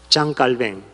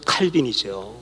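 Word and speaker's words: Jean Calvin: 장로교의 창시자가 누군지 아세요 장 깔뱅 영식 발음을 하면 전 칼빈이이 사람 무서운 사람입니다이 사람이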